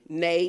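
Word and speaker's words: ναί: okay in the Greek definition the word is pronounced nay he in a heh and it just says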